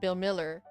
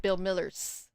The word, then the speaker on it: Bill Miller: Um, it's called Bill Miller, but everyone in Texas calls it Bill Miller's. Why? I don't know. There's no S on there.